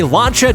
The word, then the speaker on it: Lancia: legendary lancha Delta integral are you sure it's not pronounced Lancia look it up tuty look it up I'm just messing with you I know everyone tries to correct us on that pronunciation hey I don't speak Italian so my pronunciation isn't perfect but it's not pronounced Lano welcome back to the